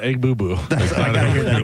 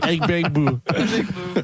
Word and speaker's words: Egbuka: But it's not Egbubu. What is it? What is it Gronk? Hold on. Oh crap. Crap. Emeka Egbuka Abuka Egbuka I love egg bites.